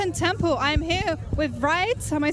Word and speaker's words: Vreid: foreign Temple I'm here with rides am I saying it rights yeah it's good